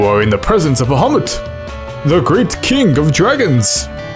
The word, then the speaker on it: Bahamut: I'm trying to pronounce Bahamut's name correct. It's not Bahamut, it's Bahamut or something.